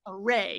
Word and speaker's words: array: here's just for everybody array second syllable array yeah not a common